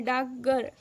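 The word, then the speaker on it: डाकघर: की संख्या 44 है डाक गर शब्द का स्वर लोप के कारण हिंदी में उच्चारण होता है डागर डागर इसका उच्चारण क्या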